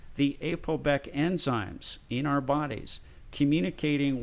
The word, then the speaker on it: APOBEC: There are special enzymes in your cells that are called ApoBec enzymes. That's spelled APOBEC.